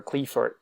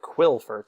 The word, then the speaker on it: Qliphort: favorite meta decks ever, Qliphort. Now, back then I called it Qliphort because I thought that was the way you pronounced it. But no, it's Klee, or Cly. I'm pretty sure it's Qliphort. But I called them Qliphorts.